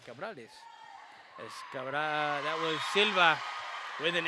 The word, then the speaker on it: Cabrales: Cabrales.